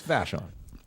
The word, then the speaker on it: Vashon: Yeah, it's Vashon.